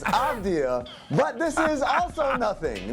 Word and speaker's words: Avdija: Yeah, your pronunciation is nothing. It's Avdija, but this is also nothing.